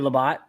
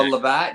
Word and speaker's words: Labatt: You want to do Labatt? Is that how you say it? Labatt? No, Labatt.